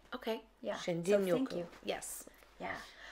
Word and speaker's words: Shinrin-Yoku: Because it is spelled with an R but pronounced as a D. Okay. Yeah. Shinrin-Yoku.